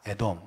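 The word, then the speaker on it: אדום: 에돔. 그래서 자음, 스펠링은 똑같아요. 에돔, 아돔. 해볼까요? 에돔.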